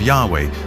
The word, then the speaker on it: Yahweh: would be yhwh which we think were probably pronounced something like Yahweh but Yahweh only appears